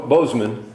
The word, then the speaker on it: Boozman: cotton and uh and Bo Boseman or as I call him boozman but it's just matter of pronunciation and representative french hill